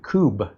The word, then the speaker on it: Kubb: A company called Kubb, K-U-B-B. I think that's how they pronounce it in France.